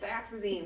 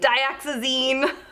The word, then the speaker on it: dioxazine: This was the burnt umber, and Katie, how do you say the violet? Dioxazine. Dioxazine.